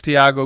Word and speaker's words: Tiago: Did you get my name wrong? It's Tiago, good evening.